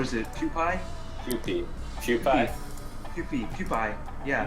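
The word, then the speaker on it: Kewpie: Mayo yeah what is it pie PE cheie Q peie yeah Q man that's delicious it's spelled k e w p i e oh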